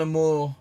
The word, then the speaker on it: Amor: Yeah, I'm so used to hearing people pronounce it Amore that you just. And I fully understand why people do, because that's how I would pronounce it if I didn't know. Yeah, Amor. Yeah, don't worry.